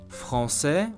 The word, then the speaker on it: Français: Français, which I hope you know what it means, French, is written with an A right after the C, yet we still want the C to sound like S, otherwise we wouldn't recognize France in it.